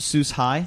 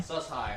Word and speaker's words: Sus-Hi: And this is pronounced sus high. Sus high.